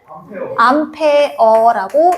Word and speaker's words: 암페어: 인텐시티에서 강도 세기를 뜻하는 아이라는 약자로 기호를 쓰고 단위는 우리 A라고 적고 읽을 때는 암페어라고 읽는다.